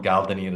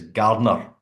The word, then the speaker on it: Gardner: They were calling him Gardenier as well. It's Gardner, Yeah, Gardner, right? Gardner, like the Gardner Cup. It's the Aye. Gardner. I was Uh, going to say it's spelled exactly the same as that.